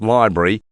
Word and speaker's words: LBRY: Simply put, LBRY, pronounced Library, is a library of digital content.